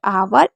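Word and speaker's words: hour: कुछ वर्ड में H silent होता है। जैसे ऑनेस्ट, आवर, एयर। इनमें हमेशा एच को नहीं पढ़ा जाता है।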